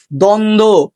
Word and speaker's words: দ্বন্দ্ব: ঠিক আছে, 3 নম্বর নিয়মটা দেখো, যুক্ত ব্যঞ্জনের সাথে বফলা থাকলে বয়ের উচ্চারণ হয় না। যুক্ত ব্যঞ্জনের সাথে বফলা যুক্ত থাকলে বয়ের উচ্চারণ হয় না। যেমন সান্ত্বনা, দ্বন্দ্ব।